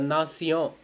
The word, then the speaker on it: nation: Sion, sion, sion. Like la nation, la réalisation, la réalisation means the realization, and la nation means the nation. Nation.